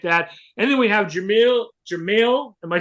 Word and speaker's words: Jermael: And then we have Jermael. Am I pronouncing that right? It's Jermael, but you're good.